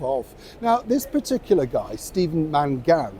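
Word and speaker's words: Stephen Mangan: now this particular guy Steven Mangan I think is how he pronounced his name actually been to my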